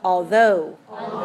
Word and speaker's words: although: pronunciation of this word this is how you say it although how many syllables do you hear although to okay where's this dress although 22 aha 22 uh-huh right okay so